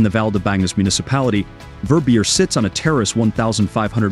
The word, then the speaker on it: Verbier: to opulent adventures and hit the like button verbier verbier is a village in Southwestern Switzerland known